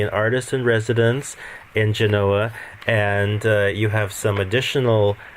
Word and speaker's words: Genoa: Yeah, I'm artist in residence, as you say, in the old psychiatric hospital in the fourth quarter in Genoa, in Italy, so sometimes pronounced Genova.